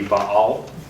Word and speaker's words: Baal: and worshiping Baal uh the Hebrew word is actually two syllables if you were going to say it in Hebrew it would be Baal uh you hear that two syllables first syllable of ba and second syllable all but it sounds kind of ridiculous to say it that way in English so we'll just say bail we'll just stick with